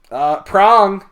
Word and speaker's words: Prong: That's the fucking Richard Merle TP get together for the Prong. first time. Dong. Okay. Prong. Or Dong. prong. Wait. Prong. Dong. With a G? Prong. Prong. Okay. Dong. Yeah, rhymes with dong.